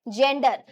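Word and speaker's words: gander: इधर देखिए नरहंस, नरहंस को क्या बोल रहे हैं, जेंडर। स्पेलिंग में ए है, जेंडर में ई होता है, यहाँ ए है, लेकिन उच्चारण जेंडर ही होगा।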